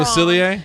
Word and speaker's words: Facilier: his name wrong. Facilier?